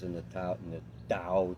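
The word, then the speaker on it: Tao: And there's 81 verses in the ta in the dao. It's pronounced with a d spelled with a t and the dao tq ching.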